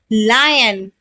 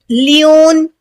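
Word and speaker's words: lion: लेमन, लायन, लायन होता है ना शेर। अच्छा, उसको बहुत से लोग लियोन या कोई लुआइन पढ़ते हैं, तो दोनों बिल्कुल गलत है। सही प्रोनाउंसिएशन क्या है, लायन, ठीक है, लायन।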